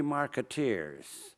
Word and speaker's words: marketeer: as though the free marketeers I call a marketeer to rhyme with Buccaneer you know so the